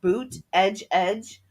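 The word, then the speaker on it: Buttigieg: bootage edge you know where he had to say boot edge edge yes get people to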